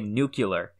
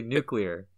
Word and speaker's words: nuclear: people will say nuclear some people will say nucular and I've noticed that you say nucular and that's just like you yes how do you say nuclear nucular Muller I have never noticed yeah it's actually nuclear nuclear oh my god I